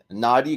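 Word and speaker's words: Knotty: But these are called the acapella, acapella, yeah, naughty grams, naughty with a K. The K is silent. Chocolate peanut butter, and it's chocolate graham knots dipped in peanut butter white chocolate.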